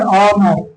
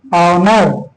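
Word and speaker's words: honour: इन सब में एच का जो उच्चारण है वो अ आएगा।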